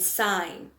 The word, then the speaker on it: sign: Another one that I can give you is sin and sign. So in this case, the G is the silent letter.